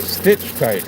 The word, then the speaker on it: Stichtite: So, yeah, a stitch tight. I should I'm saying cut with a ch, but it's stitch tight.